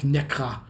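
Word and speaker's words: Nässjö: Further lessons in Swedish pronunciation come with the announcements for our stop in the town spelt Nassjo, pronounced something like Nekra.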